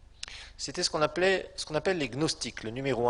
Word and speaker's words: gnostiques: C'était ce qu'on appelle les gnostiques, le numéro 1, les gnostiques. Gnostiques, ça s'écrit G-N-O-S, les gnostiques, numéro 1, G-N-O-S-T-I-Q-U-E-S, gnostique. La fin c'est comme moustique, mais là c'est gnostique, c'est pas moustique.